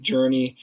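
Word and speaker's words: Jurnee: It felt different but it's pronounced Journey pretty much like the band Journey Journey smulee and I know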